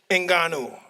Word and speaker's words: Ngannou: son, I'm not saying my it right son. there, Ngannou. I said it right that time, didn't I?